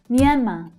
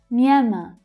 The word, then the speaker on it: Myanmar: This is actually an interesting word for native English speakers to try and pronounce because the and y consonant sounds don't often appear together in English. Myan, Myan. But it's the second syllable that is stressed.